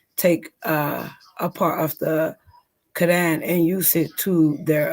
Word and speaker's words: Quran: no, So that doesn't that's in the mean that how you do you say it? Quran? That's the right way to say it. said, well, the Quran, yes, Quran.